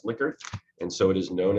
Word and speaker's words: Likert: The individual's last name is pronounced Likert, and so it is known as a Likert scale.